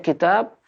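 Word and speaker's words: كتاب: Kalau nanti bacanya kitab, maka kafnya pakai harokat kasrah, taknya pakai tanda kalau dipanjang, kitab. Dan bisa juga dibaca kutub.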